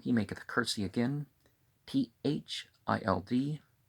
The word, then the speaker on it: THILD: THILD, Thild, one syllable.